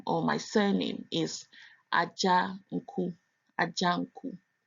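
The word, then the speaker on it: Adzanku: My last name or my surname is Ajanku, Ajanku. Aja, you might think is spelled AJA, but it's not. It's an Ewe name, and it's spelled ADZA, Aja. So the DZ also makes a J sound.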